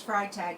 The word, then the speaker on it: Freitag: I do know that it's Freitag because it's E-I-T-A-G. And the Germans pronounce long I with an E-I combination.